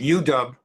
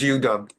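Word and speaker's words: U-Dub: And if you haven't picked up, they're calling it Udub. That is the dub is for W, but it's a lot of syllables. So instead of referring to it as UW, it's known as Udub.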